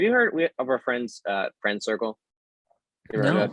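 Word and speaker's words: FRND CRCL: It's spelled FRND, no vowels. So it's no vowels, Friend Circle.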